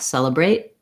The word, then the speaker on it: celebrate: to show you that in a lot of words that end with t we don't really say celebrate with the pronounced t we just let that sound stop in the mouth celebrate celebrate celebrate the day